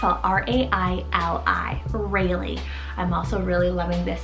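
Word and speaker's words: Raili: shoreline then we have rayleigh it's all r-a-i-l-i rayleigh i'm also really loving this spelling it's hebrew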